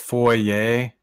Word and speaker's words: Fourier: Krishna philosopher named John it's uh pronounced for yay yay you know if like a Fourier transformation no just like for yay no but anyway the